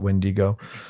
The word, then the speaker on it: Wendigo: Pronounce it Wendigo.